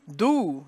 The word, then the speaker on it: doux: So, tes yeux étaient plus doux. Now, here's another letter spelling. D-O-U-X. The X is silent. The O-U spelling equals the sound OU.